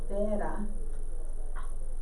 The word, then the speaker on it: pera: La pera. P-E-R-A. La pera. What we learned in my class. Oh, it's interesting. This is la pera.